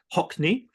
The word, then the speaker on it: Haughney: later her name's D hockney um that that is pronounced apparently like the artist David hockney but it's an Irish